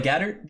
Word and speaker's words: Gaeddert: We are joined today on the virtual desk by Bubba Gaeddert, the Executive Director of the Varsity Esports Foundation.